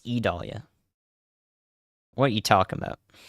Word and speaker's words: Idalia: state line I Dahlia it's not idalia it's E Dahlia what are you talking